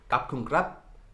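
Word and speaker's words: ขอบคุณครับ: Kap kun krap, kap kun ka, kap kun ka.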